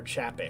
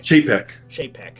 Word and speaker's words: Chapek: I'm saying I could see dinosaur under is it Chapnik or Chapek? Chapek. Chapek. Yeah, I think that's how you pronounce it.